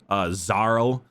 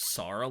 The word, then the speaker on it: Xarl: Yeah, when they pronounced it, I could have sworn it was Sarl, like Tsarl, with the way he pronounced it. But yeah, it's. I thought it was Zarl at first, like a pretty classic Zarl, but no.